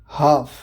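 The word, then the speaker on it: half: हाफ, L silent है मतलब आधा।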